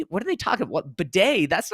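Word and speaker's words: Badie: video last year saying his last name is pronounced batty it's it's uh b a d i e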